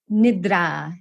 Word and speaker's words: nidra: And then nidra. Nidra. Yeah, so the I sound is it's a short I, just eh. And then the A at the end is it's long, drawn out.